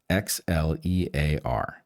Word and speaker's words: Xlear: That's Xlear with an X, Xlear.